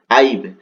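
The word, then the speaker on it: I've: এখানে কিন্তু short format করেছে আইব হবে উচ্চারণটা। ঠিক আছে? আইব।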